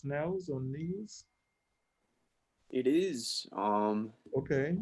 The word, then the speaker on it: Nels: Nels, is that how you pronounce it? N-E-L-S, Nels or Nels?